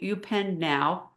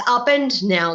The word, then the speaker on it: Upend Now: So, I'm excited to talk about your new technology, U Penn Now. Am I saying it right? It's Upend Now, like as in upending.